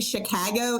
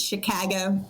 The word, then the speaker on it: Chicago: Nice nice to have you been Oh, incidentally, Chicago is the correct pronunciation of that word. There there is no other way to pronounce it. It's Chicago.